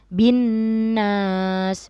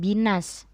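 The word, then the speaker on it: بِّ النَّاسِ: ganda dan kita dengungkan kita membacanya dengan binnas bukan binas kalau dalam tajwid ini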